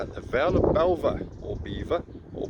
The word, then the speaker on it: Belvoir: a walk around the Vale of Belvoir, or Beaver, or Belvoir. I'm sure we'll find out at some point today how it's pronounced.